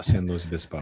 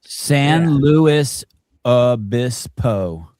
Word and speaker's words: San Luis Obispo: Well, you just smash them all together. That makes you sound like cool. Yeah, it's all San Luis Obispo.